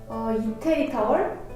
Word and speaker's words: 이태리 타월: So this Italy towel, oh wait, how is it pronounced perfectly? 이태리 타월?